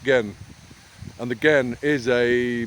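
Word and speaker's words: 근: n underneath in in Korean so and it's pronounced gen and the again is a measure of traditional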